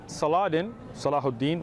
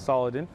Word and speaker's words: Salahuddin: When Salahuddin, which is mispronounced as Saladin, right?